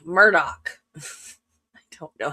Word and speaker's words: Murdaugh: That it is spelled Alex Murdo. He pronounces it Alec Murdoch.